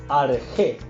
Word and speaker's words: arjé: En vez de decir principio, decían arjé. Principio, arjé. Arjé. Arjé. Arjé se escribe A-R-C-H-E, acento en la E.